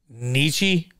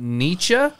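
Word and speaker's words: Nitschke: by this cat named philip that good huh nietzsche oh come on really my german pronunciation the the all not good the only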